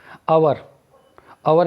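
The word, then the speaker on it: hour: आवर means होता है घंटा, इसमें एच साइलेंट है।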